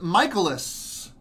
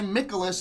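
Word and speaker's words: Mikolas: looking like here we're looking at a Miles michaelis I used to say Nikolas until recently on MLB the show I heard him pronouncing at michaelis is that it's pronounced yeah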